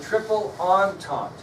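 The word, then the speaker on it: Entente: other alliance was called the triple on top that's not how it's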